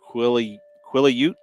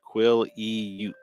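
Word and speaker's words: Quileute: But yeah, I guess it's pronounced Quilliute, is what they said. Quilliute.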